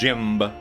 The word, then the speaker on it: Jimb: I need to figure out if I'm going to say it as Jimb all the time. Because it does say in the bio below me that the B is silent.